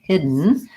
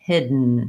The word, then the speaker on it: hidden: my n hidden hidden I don't really release that D so it's not hidden death there's no release of air I just moved from the D position into the end position hidden hid it's similar towards like cotton and mountain where I go right from the T to the N I do have a